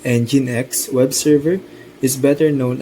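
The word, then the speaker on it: nginx: While it too can operate as a standard web server, the Ninkx pronounced EngineX web server is better known as a reverse proxy server.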